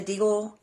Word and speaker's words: Deagel: So, but I've listened to some different videos, and it's pronounced Deagel Report.